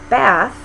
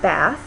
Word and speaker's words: bath: So in some environments, the low front vowel a is replaced by the vowel ah, which is a little bit farther back in the mouth. So bath in American English is pronounced bath, with the a vowel.